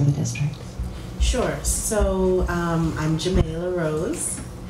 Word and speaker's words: Xamayla: our priorities for the district sure so I'm Jamila Rhoads pronounce and I grew up in East Flatbush Brooklyn